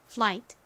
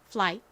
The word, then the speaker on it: flight: gh 뒤에가 오는 경우 gh 보통 묵음으로 소리가 나지 않습니다이 단어에서도 소리가 나지 않아요 자 그러니까 gh 건너뛰고 티에 소리 소리를 넣어주면 flight 되죠 그런데 이렇게가 단어의